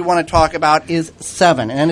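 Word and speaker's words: Sevin: first one we want to talk about is seven and it's spelled SE VI m and a lot of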